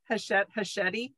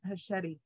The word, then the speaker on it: Hachette: I mean, it was Hachette. Yeah. Rhymes with spaghetti.